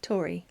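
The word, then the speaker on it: Torry: Did I say it wrong again? Tori to Tori. No, you said it right.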